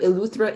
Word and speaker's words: Eleuthera: she is a research scientist at the kit pronounce that for me marjon luthra eluthra institute at the island school cape eleuthera institute she introduced climate and atmospheric sciences through